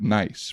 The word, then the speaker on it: Nice: here you spell it nice, but in France we say Nice.